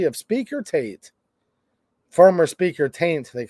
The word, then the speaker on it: Tate: dude you're mispronouncing it it's not Tate it's taint okay former speaker Joe